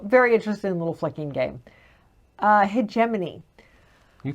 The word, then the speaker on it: Hegemony: Hegemony. You pronounced it right. I did. Hegemony is okay.